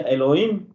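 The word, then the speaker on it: אלוהים: que Esta palabra Dios en hebreo se se pronuncia Elohim, así como se escucha.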